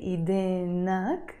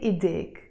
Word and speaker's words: إيديك: But when I want to add the ك for the masculine, I don't say إيدينك, no. We say إيديك, we join them.